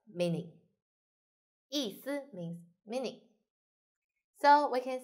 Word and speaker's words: 意思: So this one should be light and short. 思, 思. This one, 意. Actually, it's just E and first tone. E, 意思, 意思.